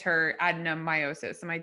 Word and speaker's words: adenomyosis: And this user, Melige Riley, has had many failed IVF attempts, and it's sort of said that it's her adenomyosis.